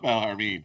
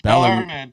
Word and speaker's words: Bellarmine: I was like, oh, it's not Bellarmine. Yes. It's Bellarmine. Bellarmine.